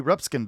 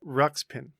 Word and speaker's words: Ruxpin: place there is a teddy ruptskin doll did i say it right no no continue how do you say it again ruxpin teddy ruxpin doll there you go and someone put a